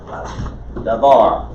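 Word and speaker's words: דבר: word you learned earlier where is the accent on the bar davar the second syllable i probably mispronounced it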